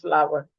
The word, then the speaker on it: flour: That is Flour. It's pronounced flower.